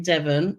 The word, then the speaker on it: Devon: or fairy as we call it but it's pronounced Foy apparently in Devon not Devin we were in Devon we're at Cornwall poor